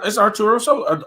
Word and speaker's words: Arturo Sosa: It's Arturo Sosa.